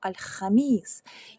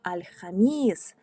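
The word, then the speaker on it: الخميس: Звертаю вашу увагу, що четверг, коли ми кажемо альхаміс, ми не кажемо х, просто ми наче відкашлюємось. Ми кажемо альхаміс. І, до речі, ми кажемо альхаміс з довгим звуком і з наголосом на звук і.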